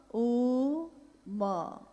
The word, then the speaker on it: ओम: अगर एक साथ सुना जाए उसको तो उसकी आवाज गूंजती हुई ऐसी है जैसे हम बोलते हैं या उच्चारण करते हैं तो हम कहते हैं ओम, है वो आ उ मा, यानी उत्पत्ति, स्थिति और